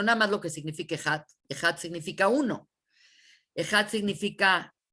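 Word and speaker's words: אחד: de decirlo, que es Ejat. La Het, que vale 8, significa que tenemos que pronunciar la Het en 8 segundos. Ese es como se debe de decir.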